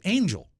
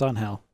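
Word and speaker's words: Ángel: very very long time I thought his name was Angel let's move on shall we no it's pronounced on hell ma it was a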